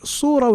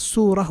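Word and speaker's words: صورة: Okay, so we know that sin and sad are two letters that are close to each other in the articulation point. So it is surah with a sad and not surah with a sin.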